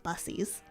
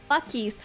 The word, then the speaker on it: Buc-ee's: Something about me that just really says I love bussies. So I guess, yeah, I would join the cult of Bussy. Dizzy Cease? What? Is that not how it's pronounced? Bussies. Bussies? Bussies? Buc-ees.